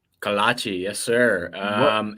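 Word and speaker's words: kolache: for you is what the hell is it kalashi is that it's pronounced kalachi yes sir um it's like a it's like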